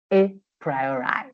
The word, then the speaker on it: a priori: that look this one this word a priori that's how you say it a priori okay a priori it